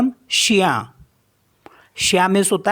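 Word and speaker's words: chien: आई ई एन तो इसको पढ़ते हैं हम शिया शिया मींस होता है डॉग और नेक्स्ट वर्ड है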